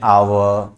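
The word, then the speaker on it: hour: क्योंकि शुरू तो हो रहा है ये एच से, लेकिन प्रोनाउंसिएशन अगर करोगे तो किससे शुरू हो रहा है, आवर, राइट, आ से, जो कि वॉवेल साउंड है, और इसलिए यहां पर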